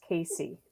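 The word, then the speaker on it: CACEA: We call ourselves CASE. The A is silent at the end.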